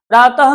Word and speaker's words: प्रातः: एक एग्जांपल और देखिए जैसे प्रातः प्रातः यहां देखिए प्रातः में त के बाद ये विसर्ग आया है। यह ह जिसका उच्चारण हम ह करते हैं। जैसे प्रातः तो ह को ह का उच्चारण हो रहा है यहां पे तो एक